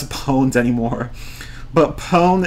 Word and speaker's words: pwned: says opponent anymore but pone is like own so it's like so it's kind of like own sn to dominate i know right pawn is so two thousands